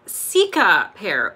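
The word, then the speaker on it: Cicapair: Oh, Jennifer Gould said it's pronounced Sika pear.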